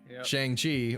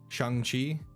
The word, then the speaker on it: Shang-Chi: ninja so far now, Shang Chi, or as it's supposed to be properly pronounced, Shang Chi. It's like it's kind of like a loose like U. It's like a long A.